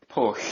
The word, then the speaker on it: Pwll: Pwll.